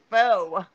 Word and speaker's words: faux: It's faux. F-A-U-X, so how would the Hugo faux? Hugo faux? Look, faux is faux.